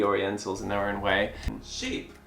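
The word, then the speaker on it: Chypre: in their own way sheep sheep it's it's spelt as sheep not sheep like that it's a sheep as in like CH y PR e and it's inspired by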